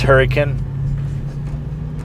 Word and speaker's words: Hurricane: apologize for that um but pronounced hurricane a little bit of a country spin on it I guess that's that's what it is locally um all right brother